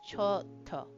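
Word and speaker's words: ちょっと: So, what it is is uh ch with a little yo, which makes it cho. And then we got uh u extending it. So it's choto. So you're gonna say it a slightly longer than to it's not chto, it's chto.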